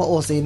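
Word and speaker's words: おしん: ก็ บอก ว่า อ่ะ ออก เสียง ว่า โอซิน นะ ฮะ อ่า เป็น สำเนียง ถิ่น ภาค กลาง ออก เสียง เชิน อ่า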